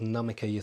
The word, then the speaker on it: Namikier: It's called Namikier Therapies. Namikier Therapies.